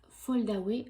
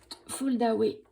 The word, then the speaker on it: Foldaway: Alors, commençons avec la Big Shot Fold Away. Je vous prononce ça à la française, hein.